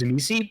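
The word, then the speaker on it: Tzimisce: So the accepted pronunciation is Zamisi, but everybody has their own pronunciations. There is no official pronunciation.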